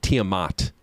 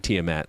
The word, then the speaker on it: Tiamat: Tiamat so and they they definitely pronounce it Tiamat not tmat like in D and D yeah all right how